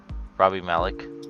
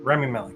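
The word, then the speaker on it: Rami Malek: Um, but I mean M is it Malik? I forget how to say it. Robbie Malik. Remy Malik. Yeah, Remy Malik is really good in this movie.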